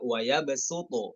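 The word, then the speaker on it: وَيَبْسُطُ: Kita harus perhatikan huruf sin di situ yang ada di atas huruf sod itu ya. Nah, dibaca waya besuto ya, waya besuto.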